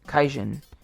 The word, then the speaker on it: kaijin: is and she puts the kanji which are just the characters for C in God however it's pronounced as kaijin once they make a